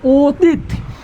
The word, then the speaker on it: অতীত: তাহলে তিত বলে আমাদের মুখটা বন্ধ হয়ে যাচ্ছে না? আমাদের মুখ বন্ধ হচ্ছে কি না? শব্দের শেষে যখন উচ্চারণের সময় মুখ বন্ধ হয়ে যায় সেটাকে বলা হয় বদ্যাক্ষর। কি বলা হয়? বদ্যাক্ষর। আর শব্দের শেষে যখন উচ্চারণে বদ্যাক্ষর হয় সেখানে একটা আমরা হসন্ত বসাই। কি বসাই? হসন্ত বসাই। তার মানে রাইট অ্যান্সার হবে অতীত, অতীত।